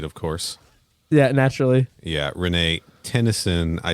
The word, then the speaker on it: Renee Tenison: Yeah, Renee Tennyson.